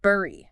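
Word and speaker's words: bury: The word bur. Ah, the homophone trap. Exactly. It looks nothing like berry the fruit, but sounds exactly the same. B E R R Y. B U R Y.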